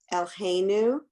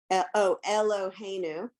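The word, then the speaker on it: אלהינו: Elheinu. What's the vowel in the lamed? Eloheinu. Right.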